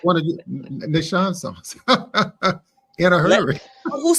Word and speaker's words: Nashon: Nashon. You gotta say it like you got like Lowry's on it. Put a little something. Nashon. Sprinkle a little sauce on it.